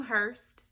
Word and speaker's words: Hurst: us, like autoimmune and things like that, then Hurst might be good for you, because they're going to go into that in more depth.